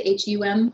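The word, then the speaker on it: ham: this in nature um the mantra for the fifth chakra is hum h am but you pronounce the hum hum um and when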